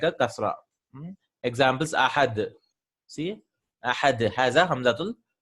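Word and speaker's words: أحد: If it was a normal Hamza, I could have joined it. I would have said, Qul Wallahu Ahad. Qul Wallahu Ahad. Right? But no, this is Ahad.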